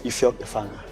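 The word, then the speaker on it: Ifiok Efanga: So my name is Ifyok Efanga. No. But the real pronunciation is Ifyok Efanga.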